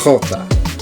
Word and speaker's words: jota: But in Spanish, it's jota. So the H sound in English is now the H sound.